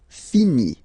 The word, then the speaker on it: finit: Il, elle finit. So IT, final T not pronounced. Il, elle finit.